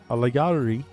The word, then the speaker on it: Allahyari: I want to get this name down right here because I had it earlier, but I keep trying to pronounce this H here for some reason. And this is Allahyari.